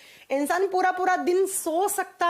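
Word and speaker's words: tsetse: इसका वॉक बंटी है सी सी फ्लाइट ऐसे लिखा जाता है उसे सी फ्लाइट जब प्रोनाउंस करते हैं तो टी साइलेंट साइलेंस हो जाता है सी सी मक्खी और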